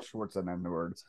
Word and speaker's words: Schwarzenegger: had to explain it like no it's it's it's spelled unfortunately that is just how you say his name um yeah yeah arnold schwarzenegger um was a good movie but yeah so